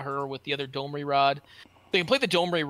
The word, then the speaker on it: Domri Rade: I either pronounce it Domri Raid or Domri Rade, and I've never pronounced it Rod.